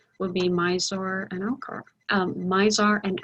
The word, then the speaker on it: Mizar: the naked eye would be mizor and elkhart mizar and alcor in fact if you want to go to those i didn't spell that right did i uh mizar would be